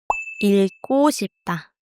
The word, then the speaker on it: 읽고 싶다: To want to read is 읽고 싶다. Be careful. You pronounce the 리을 and the 기억 together here. 읽고 싶다.